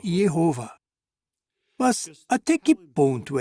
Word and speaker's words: Jeová: exata do nome original alguns eruditos acham que a pronúncia original era algo como Jé e não Jeová já outros acham que talvez tenha sido yova mas até que ponto